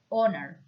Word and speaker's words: honor: be careful order is pronounced with the silent H honor to maintain a long-standing